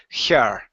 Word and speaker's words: her: the word her uh the H is very soft her it's like a breath it's a short small breath instead of saying here okay it's her good all right so